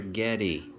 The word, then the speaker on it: Getty: one spencer or a getty hey his last name rhymes with spaghetti are getting spaghetti knees